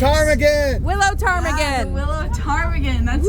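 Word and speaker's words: ptarmigan: Willow tarm again Willow tarmigan that's right it's actually a funny story about the time again so time again is spelled with a pH and there's actually a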